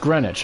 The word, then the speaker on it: Greenwich: for Greenwich complete and if you ask a New Yorker yes it's pronounced Greenwich apparently hey we don't need